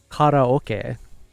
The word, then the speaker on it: karaoke: It's karaoke.